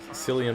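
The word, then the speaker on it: Cillian: Uh, Sillian Murphy or Killian Murphy, however you want to pronounce it.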